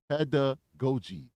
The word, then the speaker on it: pedagogy: So she said somebody spelled it out phonetically for me. So it's pedagogy.